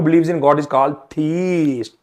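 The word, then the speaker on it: theist: वन who believes in गॉड is called थीस्ट।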